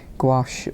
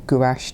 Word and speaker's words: gouache: if you can't do that buy some white gouache or gouache depending on your pronunciation and add it in at the end